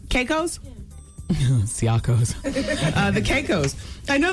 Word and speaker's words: Caicos: Turks and the, how do you say it, Siakos? Shiakos. Caicos?